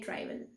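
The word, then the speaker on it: Tréville: De Treville. That's the pronunciation.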